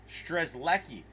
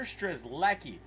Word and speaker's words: Strzelecki: be a good pickup streslecki oh Peter strezlecki that's how you say his name I figured out at